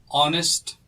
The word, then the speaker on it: honest: space is here so honest woman now pay particular attention to the word honest honest is pronounced with an o in the beginning and since o is